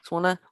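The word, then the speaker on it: Swona: of swana with it is that the right pronunciation yes swanna with its seals and shipwreck stories topics range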